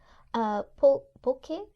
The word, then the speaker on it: pulque: Sugar candies in the shape of skulls, Panda Muerto, which is a sweet baked bread, tamales, tequila, pulque, I think. Pulque? I meant to ask you how it's pronounced.